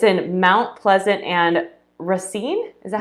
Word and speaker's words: Racine: shark fitness um it's in mount pleasant and racine is that how you say it okay racine wisconsin he has been a personal trainer sports